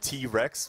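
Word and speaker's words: Wrec: It's called like T-Rex, but it's spelled like W-R-E-C.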